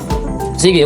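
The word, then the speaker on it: S'bu: meaning water yung Cebu ang spelling talaga niyan sa tribo namin is letter s apostrophe letter B and letter you so pronounce siya as Sige yung lotus flowers sa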